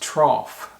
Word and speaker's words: trough: very detail-oriented or detail-oriented the next word is trough pronounced trough it's kind of off sound trough and a trough is